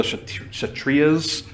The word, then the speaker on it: Kshatriyas: The whatever that word is, I think the K is silent. The Kshatriyas, which is kind of the military class.